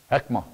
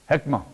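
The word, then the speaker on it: חכמה: How would you pronounce it? Help me. Hekma. Hekma.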